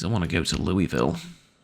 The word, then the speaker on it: Louisville: want to go to Louisville or yes laralou whatever um still can't believe that's how it's supposed to be pronounced but anyways I kind